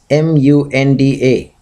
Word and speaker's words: Munda: you'll get the pronunciation and then Munda is m u n d a Munda you'll get the pronunciation so than Raba she is described in